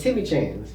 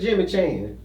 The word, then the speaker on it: Timmy Chan: Well, who the fuck is Jimmy Chan? Ain't no Jimmy. We were just mispronouncing it. Oh. It's Timmy.